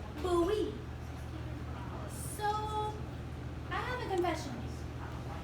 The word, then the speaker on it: Bowie: My sister said the city we're moving to is called Bowie, but it spelled like Bowie, like David Bowie. But it's pronounced Bowie.